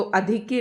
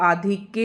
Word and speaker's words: आधिक्य: अधिक्य ज्यादा मुश्किल शब्द नहीं है तो अधिक्य नहीं होता है। यह आधिक्य होता है।